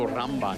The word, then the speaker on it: rumba: We're going to rumba now. Well, you go rumba then, Mike. Repeat after me, Andira. Rumba. Umba. Shake and you roll your R's.